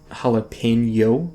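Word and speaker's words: jalapeño: So I pronounce it jalapeno, like with a tilde. I think it's I forget the symbol. I think it's a tilde.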